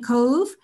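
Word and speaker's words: Cobh: And Queenstown became Cove, which is spelled C-O-B-H, and also Kingstown in Ireland became Dunleary when we got our independence.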